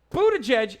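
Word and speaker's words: Buttigieg: very cool very tight like Buddha judge is how you say his last name it's also a an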